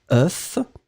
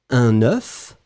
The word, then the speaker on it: œuf: peu bizarre parce que le singulier vous allez prononcer FF et vous prononcez vraiment le F final œuf un œuf quand vous mettez au pluriel le F disparaît totalement et vous allez obtenir un son e des œufs un œuf des œufs c'est la même chose